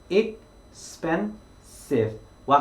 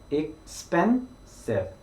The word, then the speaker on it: expensive: 그랬을 때 이 단어의 발음을 살펴보면 우리 두 번째 음절에 강조하라고 강세 표시가 되어 있습니다. 그러면 여러분들은 expensive, expensive, expensive 이런 식으로 span에 좀 더 강조를 해서 소리를 내어주면 조금 더 좋은 발음이 된다라고 생각을 하시면 되는 거죠.